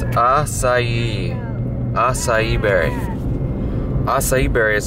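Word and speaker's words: açaí: and I'm gonna tell you how you should pronounce it. Some people call it Akai, but no, it's right here. I don't think you'll be able to see it. Oh, the light's going crazy. It's acai.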